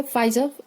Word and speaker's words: Pfizer: तो वो हम इसे ऐसे याद रख लेंगे कि फाइजर, इसमें पी साइलेंट है, फाइजर, एफ फॉर फाइजर एंड F1 फॉर schedule which deals with vaccines.